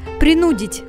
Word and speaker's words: принудить: принудить куда поставить ударение принудить заставить что-нибудь сделать силой побудить к чему-либо ударение в этом слове следует ставить на второй слог она является неподвижным во